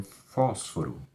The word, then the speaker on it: fósforo: proparoxítona um fósforo fósforo fósforo tem três sílabas faço fogo e a mais forte ao falso falso então aqui era necessário tem um acento no foco e no primeiro foco na primeira sílaba então tá faltando a